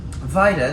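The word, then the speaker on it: Vajda: music carl schalke and yaroslav vaida vida the author of the text here was born in ohio and that's spelled v-a-j-d-a by the way he was the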